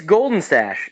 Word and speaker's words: Goldenstash: It's Goldenstash, like straight phonetically Goldenstash. spelled. It's not spelled like mustache. It's Stash.